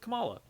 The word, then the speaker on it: Kamala: and i really want him to get with kamala it's how you pronounce her name i really want him to